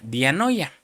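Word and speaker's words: διάνοια: Pero también se se traduce la palabra mente con una palabra griega que se pronuncia dianoya.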